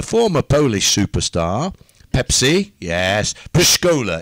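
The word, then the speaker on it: Pszczoła: polish superstar Pepsi yes post Cola is the way you say his name by the way and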